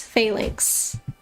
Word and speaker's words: phalanx: looks very buggy um it's a long a in Phalanx phalanx uh okay what